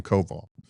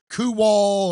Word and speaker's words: Kowal: You're the county commissioner and some people still say kowal and I'm like what the hell?